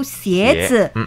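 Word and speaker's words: 鞋: Jadi sandal atau sepatu Mandarinnya itu xiezi. Xie itu sama dengan pelafalan devil untuk xie.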